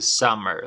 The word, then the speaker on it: summer: usar Summer para verano Recuerda que la pronunciación era con a vale era con a summer Summer okay Y aparte de